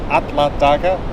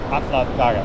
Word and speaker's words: Alla daga: We saw like on the sign of the supermarket, it's open Alla daga, A-L-L-A. Okay. Alla daga.